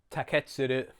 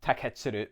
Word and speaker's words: Taketsuru: Taketsuru. If you are going to put the stress anywhere, put it on the first or second syllables to avoid the tendency to say Taketsuru.